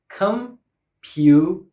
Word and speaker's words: computer: Computer. The word has 3 syllables and stress is on the second syllable.